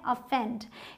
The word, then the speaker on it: offend: अफेंड। यहाँ इसका sound अ है, जैसे अदर में होता है।